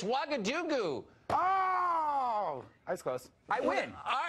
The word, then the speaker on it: Ouagadougou: Ouagadougou? Oh, I don't know if I can pronounce it. I don't know. It's Ouagadougou.